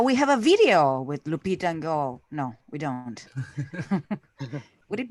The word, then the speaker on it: Lupita Nyong'o: It's Lupita Nyong'o.